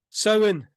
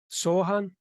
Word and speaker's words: Samhain: Tell me how you pronounce it. Samhain. Samhain. I think in England it's Sohan or Sohan.